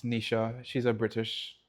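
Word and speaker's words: Nischa: But not spelled like how we would spell Nisha. It's like N I S C H E or something like that. Yeah. It's not N I S. No, it's C H.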